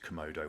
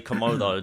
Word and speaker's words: Comodo: I I say komodo just probably because of my accent.